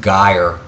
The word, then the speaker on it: gyre: of them is called a gyre sometimes you hear pronounced geyer these are uh prevailing